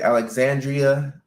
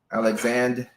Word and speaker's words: Alexandria: I got it right most people don't pronounce the Ria at the End Alexandria isn't that how you say Alexandria Alexandria what would they say alexand alexand um really with